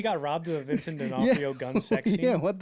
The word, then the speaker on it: D'Onofrio: D'Onofrio.